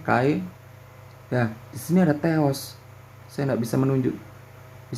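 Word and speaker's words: Θεός: Ini Theos ya saudara. Bacanya Theos.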